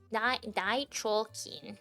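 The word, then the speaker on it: 大腸菌: Yeah, like dichokin, which I will write in chat. Dichokin. That's how you pronounce it.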